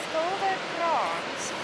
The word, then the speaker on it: Skilderkrans: Skilderkrans. Yeah. How do you spell it?